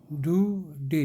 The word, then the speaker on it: Daudet: The last lesson bye Alphons डुडे, डुडे T silent.